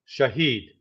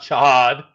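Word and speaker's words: Shahed: Shahad, Shaheed, not Shahad.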